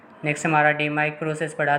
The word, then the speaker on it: DMAIC: और ये याद रख लेना, डीमाइक विच इज़ प्रोनाउंस डीमेइक, ये क्या करता है, एग्जिस्टिंग प्रोसेस को इम्प्रूव करता है।